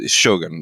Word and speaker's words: Shogun: want to emphasize that and in Japanese it's supposed to be very even or you know Shogun like it's it's one sort of flowing thing it's so different to